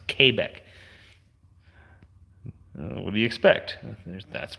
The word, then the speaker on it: Quebec: and it's Quebec so or came back as they pronounce Quebec what do you expect